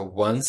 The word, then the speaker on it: once: Once, já ensinei para vocês a pronúncia. É once. Você não lê o o e não é, é once.